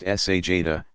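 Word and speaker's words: sajdah: stretching forward toward prostration sajna pronounced sa Jada to place hands flat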